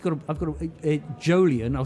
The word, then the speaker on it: Jolyon: oh because I've got I've got a a jolian I'll spell it for it's j o l y uhhuh